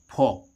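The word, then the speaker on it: folk: Look इसको हम फोल्क नहीं पढ़ रहे हैं। क्या पढ़ रहे हैं? फोक।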